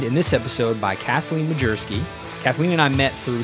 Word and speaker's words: Majerski: It was Majerski, right? Right. But for those of you wondering how to spell that, it's literally Major Sky. Yes. So if that helps you with my pronunciation, it's Kathleen Major Sky.